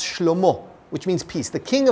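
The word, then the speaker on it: שלמה: His son, Solomon, which in Hebrew is pronounced Shlomo, which means peace.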